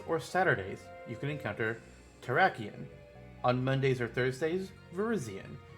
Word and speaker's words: Terrakion: Some say Terrakion, but then I have to change my mind how the other 3 say, because it feels like the last syllables should sound the same for all 3, so that's why I say Terrakion, Cobalion, Virizion. Otherwise it's like Terrakion, Cobalion, Virizion. And that just doesn't sound right to me.